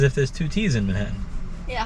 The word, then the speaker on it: Manhattan: And I like how you pronounce both T's in Manhattan. What, Manhattan? Yeah. It's not Manhattan to you, it's Manhattan. Wait, say that again? What's the difference? You pronounce each T as its own separate T. There's a T in the beginning and there's a T at the end for you.